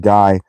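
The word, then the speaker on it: Gy: The word for woman is gee pronounced hard as in gee or guy rather pronounced hard as in guy.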